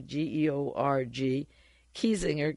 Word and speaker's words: Georg Kiesinger: Chancellor George, spelled without an E, Georg, Kiesinger, Kiesinger.